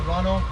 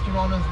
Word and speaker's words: Toronto: proper way to pronounce Toronto's name. If you say toad proper way, people will know you're not from the city. The locals don't say Toronto. We say Toronto. The second T is silent.